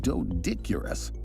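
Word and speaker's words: Doedicurus: So, um usually when you see like um consonant oe like this, it's like it's a hard e sound.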